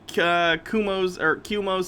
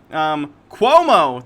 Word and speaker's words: Cuomo: Did I see Kumo's statement? I never know how to pronounce his name.